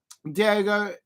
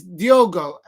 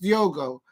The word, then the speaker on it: Diogo: Diego is how Diego Dalot playing is Diogo. In Portuguese, it's pronounced Diogo. So it's but and it is spelled differently.